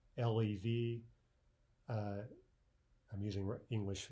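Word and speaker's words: лев: If we pronounce this without devoicing, it would be liev, right, with the vibration. But liev is incorrect.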